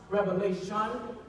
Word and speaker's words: Revelation: It's pronounced Revelation, not Revelations.